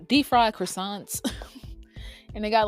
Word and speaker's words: croissant: like croissant croissant croissant you got to say it like the say like the French croissant we went to this